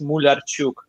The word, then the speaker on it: Mularchuk: Hey, my last name is Ukrainian, and it's pronounced Mularchuk.